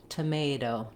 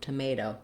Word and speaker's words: tomato: But we don't use that same aspirated T in the middle of words when the T is between two vowels or two unstressed syllables. So this T is going to sound more like a D, tomato, tomato. So it's going to be what's called a flap T, and my voice should be on.